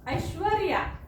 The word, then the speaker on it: ऐश्वर्या: तेव्हा उच्चाराला महत्व आहे उच्चार बघा र कुठे येतो ऐश्वर रया ऐश्वर र या ऐश्वर्या म्हणजे श्व झाल्याच्या नंतर हा र येतो म्हणून आपल्याला इथे र लिहायचा